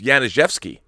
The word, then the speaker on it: Januszewski: And FYI, if you're going to go for my last name, the J is pronounced like a Y. Januszewski. All right. It's it's Januszewski.